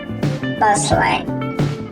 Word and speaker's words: bustling: When T is between S and LE or LI or LY in the same syllable, it is usually silent, as in Bristly, Bristly, Bristlier, Bristlier, Bustling, Bustling, Bustling, Bustling, Result, Result, Castled, Castled, Castling, Castling, Hessler.